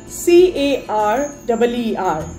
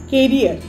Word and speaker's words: career: And last but not the least, C-A-R-E-E-R, carrier. That's a wrong pronunciation. It is not carrier, it is career. C-A-R-E-E-R. Its not pronunciation is career.